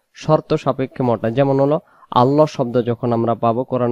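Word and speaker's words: الله: আমরা পাবো কোরআন মাজিদে আল্লাহ শব্দের ক্ষেত্রে লাম অক্ষর মোটা হবে আর লাম অক্ষর কখন মোটা হবে আল্লাহ শব্দের ডানদিকে যখন জবর হয় আল্লাহ শব্দের লামটাকে মোটা করে পড়তে হয় উচ্চারণ হবে আল্লাহু আল্লাহু আর যখন এমনিতে স্বাভাবিকভাবে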